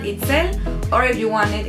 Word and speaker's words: Itzel: I have two names, and Itzel, or if you want it in a more English-speaking pronunciation, and Itzel.